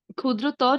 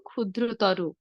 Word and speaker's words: ক্ষুদ্রতর: যেমন বৃহত্তর না বলে বলবো বৃহত্তর, ক্ষুদ্রতর না বলে বলবো ক্ষুদ্রতর, গুরুতর না বলে কি বলবো গুরুতর।